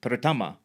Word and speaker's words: pertama: and pertama, meaning first, is pronounced Pertama.